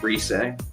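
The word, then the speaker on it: Rise: me okay and also it's not reese it's pronounced reset okay he probably meant it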